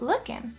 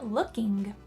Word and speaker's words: looking: First of all, notice the pronunciation hot lookin'. We are not pronouncing the final G sound in looking. Looking, lookin', lookin'. This would be true in most casual conversations. We wouldn't pronounce the final G sound. You can of course pronounce the G sound, but it's important to note that most native speakers won't.